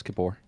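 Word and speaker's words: Kippur: Is it Yam Kapur? Close. Kapore.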